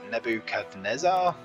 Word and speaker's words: Nebuchadnezzar: Gardens were attributed by the Greeks to Nebuchadnezzar. Yep, that's how it's pronounced.